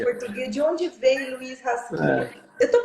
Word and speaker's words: Rasquilha: De onde veio Luiz Rasquilha? Eu estou pronunciando certo? Rasquilha, Rasquilha.